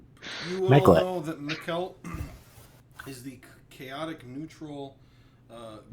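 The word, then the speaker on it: Mekelt: you can't say who it is uh it's meclet from pronouncing it right m-e-k-e-l-t all know that mikkelt is the chaotic neutral uh goddess of deception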